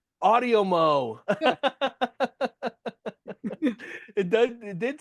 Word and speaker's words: Audiomo: Oh, wait, how do you pronounce it? Audiomo. Audiomo.